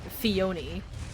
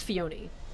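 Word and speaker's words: Phione: Like for example, uh Fiona. No, not Fion. No, no, is it? No, no, it is Fiona. cuz you you only get Fiona from hat from breeding mane and Fiona sucks.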